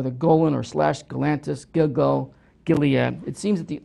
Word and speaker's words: Gilgal: Gilgal, Rephaim.